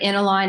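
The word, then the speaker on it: Enilno: pronouncing it wrong, but Enilon? Yep. And how did you become a partner? So yes, so you said it right, Enilon, and I'll tell you that's an anagram for online.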